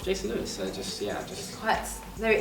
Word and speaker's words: Jason Lewis: Yeah, you did pronounce it right. It's Jason Lewis.